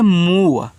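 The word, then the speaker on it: move: तो इसको पढ़ते हैं मूव। ऐसे मूव। मुंह और इसके बाद व। लास्ट में इ का उच्चारण आपको नहीं कहना।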